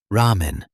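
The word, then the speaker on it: ラーメン: Japanese R is somewhere between an English R and L. For example, ramen, which in English means ramen.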